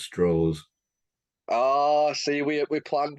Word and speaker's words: Strauss: Oppenheimer like for Louis Strauss and then for the role of Ken yeah correction it's pronounced straws oh see we we